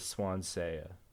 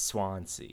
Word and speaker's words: Swansea: I pronounced it as Swansayuh the entire game, and I just didn't know I was pronouncing it wrong. I'm sorry about that. I know now. It's Swansea. It's not Swansayuh.